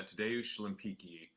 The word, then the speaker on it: Tadeusz Lempicki: Yeah, Tadeusz Lempicki.